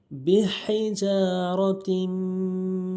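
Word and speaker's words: بِحِجَارَةٍ: বড় হা হলকের মাঝখান থেকে উচ্চারণ করতে হবে। বিহিজারাতিম মিন সিজ্জিল।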